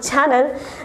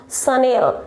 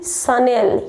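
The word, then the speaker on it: Chanel: Actually it's not channel. The correct pronunciation of this brand is Sunil. Repeat after me, Sunil.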